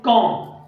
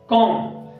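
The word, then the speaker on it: comb: ठीक आहे, त्याच्यानंतर आहे कॉम, कॉम आता कॉम या शब्दामध्ये देखील बी हा साइलेंट लेटर आहे.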